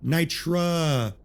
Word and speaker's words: Nitra: Let's go for nitra.